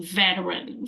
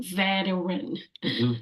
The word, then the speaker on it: veteran: you guys have notes we don't need to pronounce the T in vetan veteran veteran so the next word